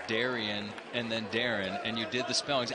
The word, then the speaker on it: Darian: The Bulldogs head coach spells his name D-A-R-I-A-N, but he pronounces it Darren.